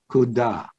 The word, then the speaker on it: kuda: There's a word, kuda, rhymes with Buddha, and it means comes of its own accord.